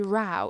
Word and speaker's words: row: into yet another ugly Rao it's not pronounced row here because we're not talking about different rows of seats and we're not going